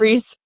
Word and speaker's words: Rhys: Rhys is Reese.